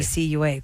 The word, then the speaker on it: Nacua: Puka Nakua, I think is how you say his did last name. not know I know that. that's Nakua. I learned something today. Nacua.